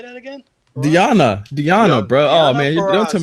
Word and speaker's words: Deonna: Dono Purrazzo, how do you say that again? Deonna, bro.